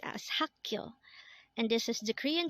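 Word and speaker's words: 학교: term for water is mul next word is hakyo again this is pronounced as hakyo and this is the Korean term for school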